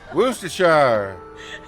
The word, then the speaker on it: Worcestershire: Wash your sister's sauce. Worcestershire. That's what somebody told us how to pronounce it, right?